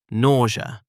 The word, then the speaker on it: nausea: Today's word, nausea. 3 syllables. Nausea. Not nausea, nausea.